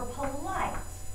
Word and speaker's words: poli: Now, something interesting happens with the word for polite. Répétez poli and répétez poli. They're pronounced exactly the same, but something gets added in the feminine form.